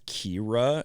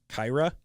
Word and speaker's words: Kira: The principal also mispronounced her name and she told him specifically it's Kira and he pronounced it Kyra.